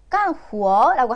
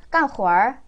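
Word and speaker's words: 干活儿: 근데 얘는 원래 남방 사람들은 어하 발음을 별로 좋아하지 않거든요. 근데 남방 사람들도 이것만큼은 깐 후어라고 하지 않아요. 깐 후얼, 깐 후얼 잘안 되더라도 어라 발음을 좀 넣어볼게요. 깐후얼, 깐후얼. 이때의 깐도 사성으로 써요.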